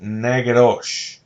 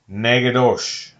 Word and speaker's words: Natchitoches: through a town called natchitoches but down in louisiana they pronounce it nagarosh nagadosh i don't know why